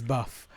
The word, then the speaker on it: 6UFF: It is not really spelled as Buff, but it is pronounced as Buff.